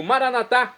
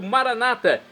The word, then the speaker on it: maranatá: Agora do aramaico eu clamo maranatá, como dizemos nós católicos, ou maranata, como dizem nossos irmãos separados, os evangélicos ou protestantes.